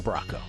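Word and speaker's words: Bracco: B-R-A-C-C-O. Like Lorraine Brocco.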